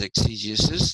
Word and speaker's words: exegesis: i s ex Jesus okay the process is exegesis the person who's doing it is the exit